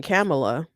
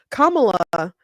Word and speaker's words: Kamala: why people are saying camela to me to me kamla makes more I sorry Kamala that's what I was saying Kamala Kamala is how you say the name I believe I was